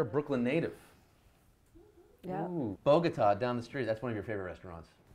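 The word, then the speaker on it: Bogotá: You say Bogota. Latin Bistro, I say Bogota. The way it's properly pronounced.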